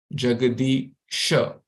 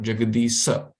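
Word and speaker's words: जगदीश: Vasati, all these are sha, Shashini, Shukara, Jagadisha, not Jagadisa, okay?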